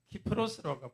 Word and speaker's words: 키프로스: 구부러 섬인데요 한번 볼까요 굽으로는 키프로스로 발암하기도 하고 사이프러스라고 발음하기도 합니다 어디냐면은 여기가 이스라엘 예루살렘